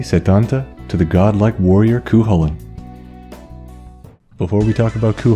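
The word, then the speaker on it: Cú Chulainn: Cu Chulainn is one of Shin Megami Tensei's most popular demons, and yes, that is how you pronounce it.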